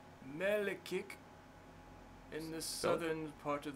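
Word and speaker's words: Mielikki: hold on, I need to pronounce this right. Melikik, in the southern part of the city. M-A-L... M-I-E-L-I-K-K-I. Sorry, I don't know if I'm pronouncing that right. M-I-E-L-I-K-K-I? M-I-E... Yep. L-I... Yep. K-K-I. So, Mieliki?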